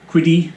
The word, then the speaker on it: Qidi: This video is going to be about the unboxing and installation of my new Qidi, that's pronounced right, X-Max Pro.